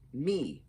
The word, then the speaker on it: miv: saying that right um miv is pronounced me m-e-e again i i i